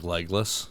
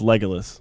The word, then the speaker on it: Legolas: Like Legless? Like Legolas. You're saying it wrong. Am I? Yeah, you are. No, it's Legolas. It's not Legless.